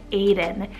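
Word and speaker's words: Adan: Then we have Aiden, spelled A-D-A-N, Aiden.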